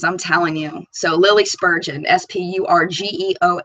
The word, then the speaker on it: Spurgeon: girlfriend's going places I'm telling you so Lily Spurgeon spu RG EO m is how you pronounce Pell her last name yes she did